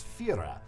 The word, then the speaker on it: Führer: Like, They pronounce it very strangely. It's Führer.